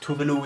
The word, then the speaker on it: Tove Lo: by toblo tuvalu uh it's pronounced tuvalu in swedish it's actually a country as well tuvalu it's pronounced uh